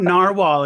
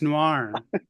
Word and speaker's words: noir: it wrong because it's it's not narwhal it's Noir Noir I know I know